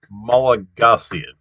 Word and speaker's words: Malagasy: yeah i i'm i'm i'm not getting the the stress on the name of the language right it's malagasy is uh so it's uh stress is next to the last syllable which um i guess